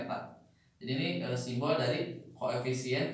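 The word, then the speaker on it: η: Viskositas itu ini mah simbolnya, viskositas itu gini, eta ya, dibacanya eta.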